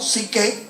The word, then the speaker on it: psique: polis y la palabra sujé, o psique, que es como la pronunciamos acá, o psique, que es mente, alma, para ser más platónicos.